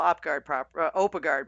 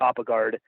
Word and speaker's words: Oppegaard: Because nobody can spell Oppegaard properly.